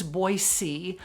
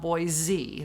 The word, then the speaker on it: Boise: It's Boise, not Boise. There's no Z sound in the name.